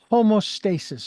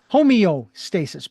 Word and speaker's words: homeostasis: always using the word homoasis or homo uh yeah that's right home homoasis homeostasis beg your pardon mispronunciation homeostasis which is basically getting